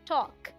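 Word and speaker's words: talk: नहीं समझ में आता इसे हम ल्क नहीं पढ़ते यहां एल साइलेंट है ये है टॉक ये है एक ऋतु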